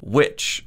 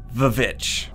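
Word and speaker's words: VVitch: is going to be which or as some people called online vich it might just be me who calls it that it's spelled vv i'm gonna say vovich it sounds cool as with most big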